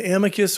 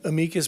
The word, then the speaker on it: amicus: An amicus or amicus brief that's pronounced both ways.